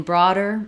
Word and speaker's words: broader: first syllable and then in broader the D is flapped so the D lifts up the voice is on it's just like a regular D I just don't need a strong burst of air not